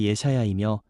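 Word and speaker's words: ישעיהו: 이사야라는 제목의 원어 의미는 히브리어 발음으로 예샤야이며 그 뜻은 여호와는 구원이시다입니다.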